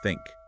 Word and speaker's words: think: our sources point out the classic th versus S confusion why do Learners tend to say SN instead of think well in many cases